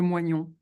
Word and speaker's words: moignon: ce qu'on appelle le moignon. Ah, le moyen. Il ne Oui. pouvait pas parler de cette M-O, partie. oui. Il ne pouvait pas prononcer ce mot. Ça s'écrit M-O-I-G-N-O-N. Ah, oui, mais moyen. Voilà.